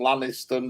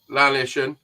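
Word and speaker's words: Llanishen: Liz, I'm not pronouncing this right. Lizavan and Lanniston reservoirs. Lisvane and Lanishon.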